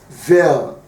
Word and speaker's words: vel: So vel, that's what we call it. So this is when two or more propositions are joined by or vel.